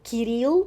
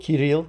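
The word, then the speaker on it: Кирилл: you heard about uh Cyril kiril kiril yes that is that's how we pronounce it right and you said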